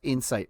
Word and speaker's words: insight: Somebody said we pronounce insight wrong. How do you pronounce that word? Is it insight? It's a slightly different emphasis. It's insight.